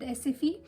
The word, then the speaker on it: SFI: to enroll yourself with SFE. Actually, it's SFI if you spell it, but when it comes to Swedish, so I is pronounced as E, so it becomes SFE.